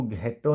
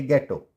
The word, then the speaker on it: ghetto: वैसे ही GHETTO, इसको घेटो नहीं पढ़ेंगे, इसको पढ़ेंगे गेटो, गेटो।